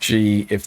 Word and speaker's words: GIF: Animated reaction with a hard G sound or a soft G if that's how you roll. Animate. It's a GIF. I go with the soft G. That's That's how I roll.